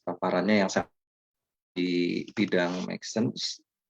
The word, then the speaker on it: MXene: Baik, terima kasih Mas Angga atas paparannya yang sangat di bidang Maxsense, MXsense, tapi dibacanya Maxsense gitu ya.